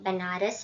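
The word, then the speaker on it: Benares: अब इवन तो यहाँ पे स्पेलिंग बनारस है लेकिन इसको बोलना बनारस है।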